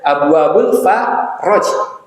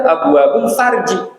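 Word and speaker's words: أبواب الفرج: Abwabul Faraj. Faraj, Pak, semuanya diberikan fathah, harokat fathah. Faraj. Ini kalau orang nggak bisa baca, ntar Abwabul Farji.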